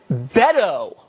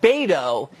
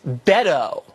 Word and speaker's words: Beto: wrong from the jump it's Beto O'Rourke not bado it's Beto did you even know that I did I was on committees with Beto and he Beto decide whether or not